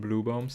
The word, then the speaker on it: Blübaum: it's not even UE, it's the letter Ü with like, it's a U with 2 dots, which like actually more or less like for people in Germany it sounds like blossoming tree and not blue tree.